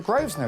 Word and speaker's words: Grosvenor: we've got the name the Groves know it sounds posh you don't pronounce the air oh hello is that